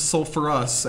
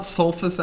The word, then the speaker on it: sulfurous: Knight so sulfite becomes sulfurous acid it's not sulfous acid we put the ER back in there from sulfur sulfurous sulfurus sulfurous wow I've